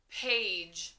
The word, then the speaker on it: page: just get those confused the soft g which sounds like ja and normally it will be spelled with g e like the word gem we did that one the other day and it can also be spelled with d g e but of course d g e will only come at the end of the word okay so page your turn a ja page page